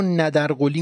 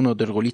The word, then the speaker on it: نادرقلی: زمان به خودش دید اسم این کودک رو ندر قلی می‌ذارن که ما نادرقلی تلفظ می‌کنیم پدرش فردی بود به اسم